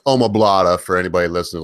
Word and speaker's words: omoplata: When you extend the arm for arm bar, Amagata is one of the worst, or arm triangle, whatever you want to call it. And I always say it wrong. It's omoplata for anybody listening.